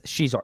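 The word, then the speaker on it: Xizor: Shizor is pronounced as Shizor.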